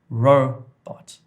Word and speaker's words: robot: So the emphasis, the stress is on the first part of the word. Robot, robot.